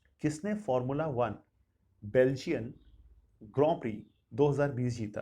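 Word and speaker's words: Grand Prix: अच्छा, मैं आपको इसमें ग्रॉ प्री बोल रहा हूँ, देखिए इसका प्रोनाउंसिएशन ग्रॉ प्री ही है। ग्रैंड प्रिक्स लिखते हैं लेकिन बोलते ग्रॉ प्री हैं, क्योंकि वो फ्रेंच फ्रेंच की तरह बोलते हैं उसको, वो तभी से उसको ग्रॉ प्री बोला जाता है।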